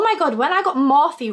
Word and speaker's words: Morphe: And oh my God, when I got Morphe wrong the other week in my YouTube video, I don't know if it's Morph or Morphe, and it's obviously Morphe.